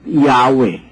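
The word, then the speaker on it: Yahweh: lang pong Basahin ito while it is almost if not quite certain that the name was originally pronounced yahwe this pronunciation was not indicated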